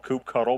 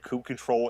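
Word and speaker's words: kubectl: Some people call it kube cuddle, but Twitter tells me that kube control is the appropriate pronunciation.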